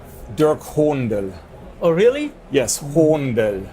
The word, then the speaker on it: Dirk Hohndel: again I'll make you actually say my name Dirk Hornell oh really yes whom the dirt honda yes